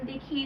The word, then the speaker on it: the: কিছু উদাহরণ দেখিয়ে দিই দায়ের।